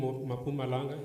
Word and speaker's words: Mpumalanga: There's a university that is coming in Mpumalanga, as it's pronounced, on Mpumalanga, that we are currently talking to as well, to ensure that when you start, that is already meeting the requirements.